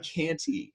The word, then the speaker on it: Kanty: just go by Canty.